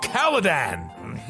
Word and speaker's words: Caladan: Dune, Duke of Kaledan.